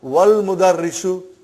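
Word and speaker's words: والمدرس: Then we will say, wal mudarrisu. Wal mudarrisu, you did not pronounce Hamza. Okay? Because it's Hamzatul Wasal.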